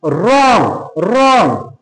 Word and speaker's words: wrong: এরপরে যদি আমরা দেখি আর একটা ওয়ার্ড, তাহলে WRONG রং রং, তাহলে দেখো ওখানে কিন্তু আমরা ডাব্লিউ এর উচ্চারণকেও কিন্তু বিলোপ করে দিয়েছি।